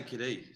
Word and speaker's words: Cadee: So I don't really know where it comes from because they all pronounced it as Cadee.